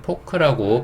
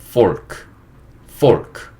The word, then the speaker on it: fork: 표기가 된 거고 우리는 포크라고 발음을 하고 살았던 거죠. 하지만 영어식 발음은 fork 이렇게 된다는 거, 예, 그거 이해하시면 돼요.